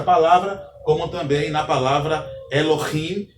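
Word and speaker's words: אֱלֹהִים: Então, a expressão aqui, ou a pronúncia deste vocábulo é Elohim, não é Elohim, é Elohim, pois o Re tem um som de um H levemente aspirado.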